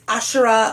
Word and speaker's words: Asherah: Okay, so number 8 is Asherah or Ashera. There are different pronunciations.